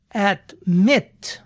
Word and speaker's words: admit: Por ejemplo, el verbo admitir, admit, tiene consonante, vocal, consonante, y la acentuación cae en la última sílaba, admit.